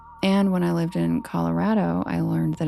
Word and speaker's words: Colorado: And I was a news reporter there, so I had to say Rado. Colorado. Like rad, dude.